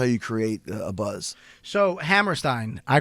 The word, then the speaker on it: Hammerstein: And I remember it's pronounced Hammerstein, by the way. Like Ram? Yeah, that's the way I pronounce it.